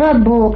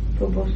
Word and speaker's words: Faubourg: Faubourg, I don't pronounce it properly. Yes. See. Yes. But do you know where that is? Yes, of course I do. You got any connection with it? No. Faubourg Saint-Honoré, I know.